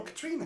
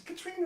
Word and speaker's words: Catriona: Catriona. Oh, Katrina. It's Katrina up in Scotland.